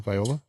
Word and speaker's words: Viola: is it viola viola viola well my italian relatives would tell you that the i is pronounced like an e in italy so it's viola but either way tony